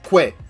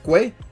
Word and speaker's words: kwe: Saying hello, hey, in Mi'kmaq is kwe. Pronounced roughly as gwe. So kwe, kind of like kwe, something like that.